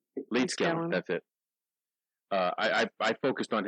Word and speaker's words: Leedskalnin: How do you pronounce his last name? Leedskalnin. Leedskalnin.